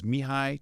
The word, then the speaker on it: Mihaly: And you'll see it's Mihai, it's pronounced Mihai Csikszentmihalyi, and he's kind of known as the godfather of flow.